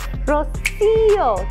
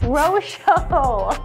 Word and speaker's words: Rocio: is that my Filipinos can't pronounce my name right it's Rocio not rocho and when in